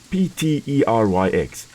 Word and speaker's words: Pteryx: P-T-E-R-Y-X. The P, very similar to one that you do 2 o'clock in the morning when you don't want to wake everybody up in the house, is silent.